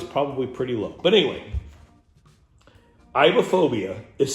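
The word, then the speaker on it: aibohphobia: at that bad boy iophobia iophobia that's how you say it now what iophobia is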